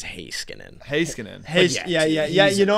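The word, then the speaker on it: Heiskanen: swap out slaven for high skin I was gonna say High School yeah sorry his name wrong right I believe it is hay Skinner yeah yeah yeah you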